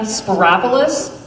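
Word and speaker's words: Spyropoulos: big challenge it's marianna spiropolis rhymes with metropolis so no reason to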